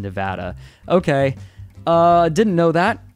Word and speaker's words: Nevada: when people pronounce it Nevada people from Nevada often pronounce it in Nevada okay I didn't know